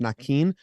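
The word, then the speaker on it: Naquin: Tyler Nakin says it's supposed to be pronounced Nakin.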